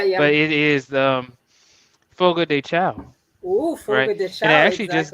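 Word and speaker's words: Fogo de Chão: but it is the foga de chao oh foreign i actually just learned that um that people who are brazilians they say it focus shone but then when i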